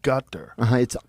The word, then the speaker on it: Qatar: You said gutter. It's back here. It's called a qaf. But so Qatar. I've heard cutter. Yeah, it's not cutter, but you're saying it like a G? They use a G sound.